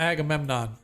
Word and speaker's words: Agamemnon: all right let me add that to our list angry a government what's up brother we pronounce it Angry Angry okay no you had it right I call him Agamemnon that's it he's the Egyptian king thanks brother